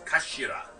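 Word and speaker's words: 頭: written as head in Japanese, but it's pronounced as Kashira, I believe.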